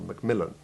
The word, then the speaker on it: Macmillan: For example, MacDonald or Macmillan. Generally, as you have just heard, the prefix is unstressed and has the short A2 Ivy sound, except where the English